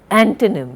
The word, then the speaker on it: antonym: Antonym, we do not say antonym, antonym, you know, opposite of some word.